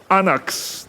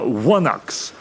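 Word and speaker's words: ϝάναξ: It's like a gamma with a line through it and it's a W sound.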